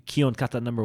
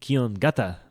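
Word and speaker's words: Kihon Gata: When you put 2 characters together, you gutterize, because you go from a ka to g sound. Okay. G. Kata g. So Kion Gata. We used to pronounce our Kion Katas on YouTube. It'd be Kion Kata number 1, but really I guess it should be Kion Gata number 1.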